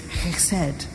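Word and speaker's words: חֶסֶד: Because the word in the Bible for mercy is chesed. You have to pronounce that in the back of your throat.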